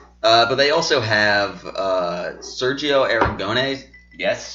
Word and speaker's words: Aragonés: But they also have Sergio Aragonés. Yes.